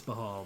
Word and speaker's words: Baal: I believe it's Bahal, but it's one of those tricky words.